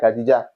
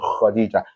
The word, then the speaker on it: Khadija: So, but the correct pronunciation for that is what? Khadija. This one is what? Kha. And Kha is part of the alphabet of the throat. It comes what? From the throat, the upper part of the throat here.